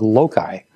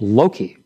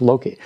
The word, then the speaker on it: Loki: a mistake one day and called the dog Loki. And Dr. Gabelion said, Frederick, you must learn to pronounce the name of the dog correctly. It's Loki. Did you hear that? Yes, sir. It's Loki.